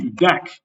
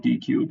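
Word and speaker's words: deque: So the deck then, or I like calling it DQ, but this is DQ. This is just deck. So if the UE is silent, the Q makes the K sound.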